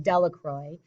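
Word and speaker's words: Delacroix: Jones and Dicky delacroy the villagers pronounced his name delacroy eventually made a great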